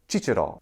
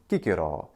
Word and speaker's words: Cicero: in ecclesiastical Latin but in classical Latin there is no cha the letter c is only a C Sound and thus his name is Kiko and it means a